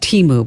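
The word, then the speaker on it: Temu: It's And it's it's called it's pronounced Teeu, by the way. Oh, okay. That's all right. It's called Teeu.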